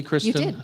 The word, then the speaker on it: Kristin: two rules did I say your name correctly Kristen oh okay good geez tough it's early it's